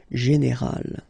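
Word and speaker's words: générale: Okay, but then phonetically it's quite interesting, because you don't make any difference. You will get so général at the masculine form, and it will be exactly the same thing at the feminine form, général.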